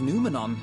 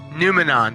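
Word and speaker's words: Noumenon: from the depths of pneumonia i presume numenon that's how you say it i i'm from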